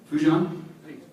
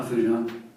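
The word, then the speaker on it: Foujan: Fujan? How do you spell that?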